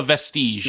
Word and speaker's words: Vestige: I believe it's the vestige. Yeah, that's the canonical one.